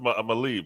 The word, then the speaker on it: Malaeb: and your last name is pronounced Malib, right? Yeah, Malay is fine. Yes. Is there a better pronunciation for it than that? No, there are sounds that don't exist in Right. English. Yes. So Yes. let's Yes. let's Yes. stick with Malib.